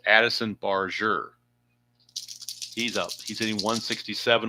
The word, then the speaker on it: Barger: I was called him Barger, but when I listened to the game last night, it's pronounced they're pronouncing it Barure. It's a soft G. So, it's Addison Barure.